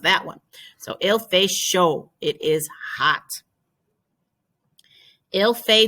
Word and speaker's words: chaud: The D is silent. Il fait chaud.